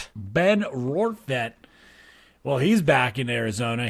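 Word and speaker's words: Rortvedt: And Benny Biceps himself, old Ben Rovit, Rorvett, how do you say it? Ben Rovet. Ben Rorvette.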